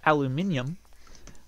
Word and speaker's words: aluminium: too but yes um if you saying it as aluminium uh actually is the more correct way to say it because it follows this the P the pattern that all other elements do cadmium brillium and uh potassium it's all ends in um if things are patterns